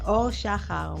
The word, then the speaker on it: Or Shahar: have thank you yeah all Shaha will be the right way to pronounce it but I think for